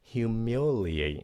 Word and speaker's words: humiliate: Humiliate, các bạn phát âm nha. Humiliate, humiliate, bốn âm.